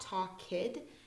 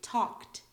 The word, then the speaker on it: talked: party talked I know it doesn't sound like we are actually saying talk kid it's not talk kid sometimes we pronounce Ed as like a t like talked okay walked cooked looked he